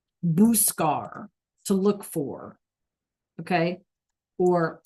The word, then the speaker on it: buscar: And when we pronounce them, buscar, sacar, and, or I'm sorry, that's llegar's and GAR. Sacar, okay? Then that C is like a K, right? Buscar and sacar.